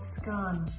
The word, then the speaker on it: scone: So the last question is it a scone or a scone? It's scone. There's a big debate about how you pronounce it.